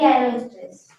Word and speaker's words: air hostess: Mummy मैं एयर हाँ, ये हॉस्टेस गलती करते हैं यार, इसको जरा संभाल के उच्चारण करो। उसमें आर कहीं नहीं रहता है, फिर भी वो मुंह से निकल जाता है।